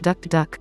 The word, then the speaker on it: tuk-tuk: than it appears alternatively tuk-tuk vehicles pronounced duck duck are a dime a